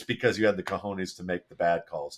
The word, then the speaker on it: cojones: I'm really happy that Matt pronounced cojones correctly after Dave. You dropped a cojones. Cojones, yeah, that's Come on, man.